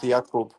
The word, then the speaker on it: Jakub: in America it's fine, but like No, correct one is Jakub.